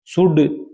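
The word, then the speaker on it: should: तीन अर्थ होते हैं शुड वुड कुड इनमें एल साइलेंट है ये टॉक मैंने बताया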